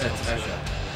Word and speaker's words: Kesha: No, it's Kesha. You don't know how to pronounce it. Don't just assume. It's like Kesha, but okay.